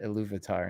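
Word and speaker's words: Ilúvatar: I hope I hope uh I hope Andy pronounces it a louvitar instead of um I'm trying to think of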